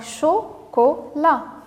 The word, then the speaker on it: chocolat: La, voilà, avec T à la fin, même si elle ne se prononce pas. Donc, chocolat.